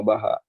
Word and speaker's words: baja: Ini meskipun tulisannya baja, tapi dibacanya itu patella baha.